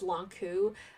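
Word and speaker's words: Lon'qu: think velocity specifically okay people are saying that in the game it's lonku I guess I guess if you were to like go by the traditional Chinese or whatever pronunciation it is it would be longchu but I guess in the context of Fire Emblem um I guess I'll just keep saying lanku half null follow-up is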